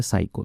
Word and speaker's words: psycho: अब यहां पे साइको है तो इसमें पी साइलेंट होता है और इसको ही पढ़ा जाता है साइको।